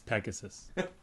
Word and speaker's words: PEG ASS US: ass us it's it's Pegasus Peg ass us which is supposed to be pronounced Pegasus so uh tell us